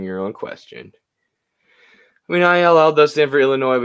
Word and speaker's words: Ill: It's just ill, Eddie. No way. It's not Illinois. Ill, I-L-L.